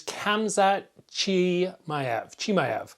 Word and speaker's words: Khamzat Chimaev: Today I want to talk with you about Nate Diaz versus Khamzat Chimaev.